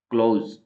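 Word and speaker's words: clothes: B silent है इसमें क्लोज इसके अंदर टी एच है वह साइलेंट अब य स्पेलिंग तो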